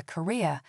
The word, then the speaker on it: career: are the only thing that reliably distinguishes a career, meaning a profession or vocation, from Korea, meaning a peninsula in Eastern Asia.